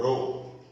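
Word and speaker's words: ρ: क्या पढ़ेंगे इसको बच्चों? इस टाइप का जो होगा इसको क्या पढ़ेंगे? रो, रो पढ़ेंगे, इसका उच्चारण रो।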